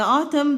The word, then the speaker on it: autumn: have autumn and then don't forget that the N is silent we don't say it so we just tried it and the autumn the leaves start falling